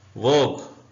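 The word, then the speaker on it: vogue: उर्दू में भी biscuit वोग you silent है वग का मतलब होता है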